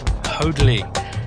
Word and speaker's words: Hoadley: Wonderful Mr. Brian Hodley. Have I pronounced your name appropriately, sir? You did indeed, sir.